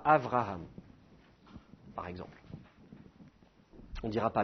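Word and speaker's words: אברהם: maintenir la double prononciation donc on dira pas Abraham on dira Avraham par exemple on dira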